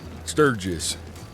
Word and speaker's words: Sturgis: Sturgis. Sturgis? Uh-huh. There we go. I just didn't want to mispronounce it.